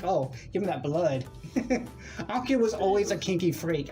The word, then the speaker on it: Anko: Yeah, Anko.